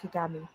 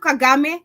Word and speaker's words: Kagame: including Congo's President Felix Chisedi and Rwanda's Paul Kagami both engaged in regional peace talks Paul it's the way she pronounce it ted anyway we have Kagame and of course we have the Congo uh